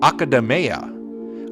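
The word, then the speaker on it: Akademeia: hashino the director of metaphor reantaso however a pronunciation I didn't expect was academa up until now I've been saying Mia but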